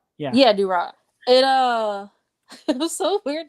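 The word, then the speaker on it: Durarara!!: you seen I'm gonna mispronounce it, Dulala or Durara? It has like exclamation marks at the end of it. It's, like a Dorara. Yeah. Yeah, Durara.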